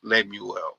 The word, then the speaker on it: Lemuel: It's like Samuel, but with an L. Lemuel.